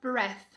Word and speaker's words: breath: Tirou o E do final, a pronúncia mudou completamente. Breath, breath. Então, tanto o som da vogal quanto o som do TH mudam aqui, tá? De I passou para E e do V passou para F.